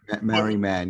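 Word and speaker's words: Marree Man: I don't know how you guys pronounce it, but it's Mariman or Merryman. Yeah. It's M-A-R-R-E-E. Mary. Is it Marie Man or something? Merryman, yeah.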